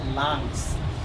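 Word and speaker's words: lungs: ঠিক আছে, আবার LUNCH এটা আবার তোমার লঞ্চ হয়, LUNCH লাঞ্চ, সব এই উচ্চারণ দিচ্ছে, এটা হচ্ছে লাংস, লাংস, ওকে, লাঞ্চ না লাংস, ওকে।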